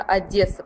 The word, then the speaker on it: Одесса: Ну я советую кстати Правильнее говорить именно Одесса Потому что считается что те кто приехал они говорят Одесса сразу можно вычислить что это приезжие люди что это из Москвы такой совет да всё время нужно говорить Одесса это правильнее вот так тогда никто